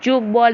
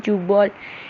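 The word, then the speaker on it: tchoukball: Then we have the sport of choke ball. Remember, tea is silent in choke ball.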